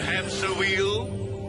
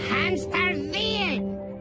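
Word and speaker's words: Hämsterviel: Daughter Hamster Wheel? It's Hamster Veal!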